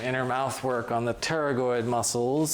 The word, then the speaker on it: pterygoid: So as requested, we are now going to pull out the gloves and do some inner mouth work on the pterygoid muscles, spelled like pterodactyl.